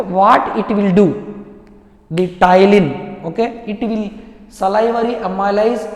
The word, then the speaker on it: ptyalin: See, ptyalin, here P is silent, it will pronounced as ptyalin or otherwise salivary amylase.